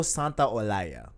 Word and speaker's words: Santaolalla: San, I don't know how to pronounce his name. Santa Olaya. Gustavo Santiago. I I don't know. believe it's Gustavo Santaolalla.